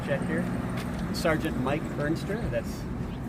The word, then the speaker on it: Ernster: just uh for sound check here Sergeant Mike fernster that's spelled e-r-m-s-t-e-r and the public information officer for